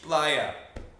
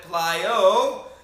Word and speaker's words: playa: Playa. Okay, that's with an A. Safe, no problem. However, if you mispronounce it and you call it playo, you are now calling something homosexual in a derogatory term.